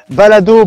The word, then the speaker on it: Balado: Balado, B-A-L-A-D-O, comme ça se prononce.